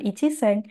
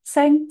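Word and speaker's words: 千: Bukan iseng, bukan ichiseng, cukup seng saja.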